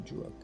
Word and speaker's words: Druk: And an E after at the end of Drook or Druk. It's actually Druk.